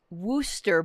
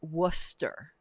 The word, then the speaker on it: Worcester: period of time um wooster but the ooh is pronounced like book so it's worcester and whether or not